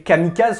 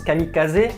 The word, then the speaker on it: kamikaze: un très bon exemple les kamikazes qu'on appelle les kamikaz ça se prononce kamikazé donc c'est le dieu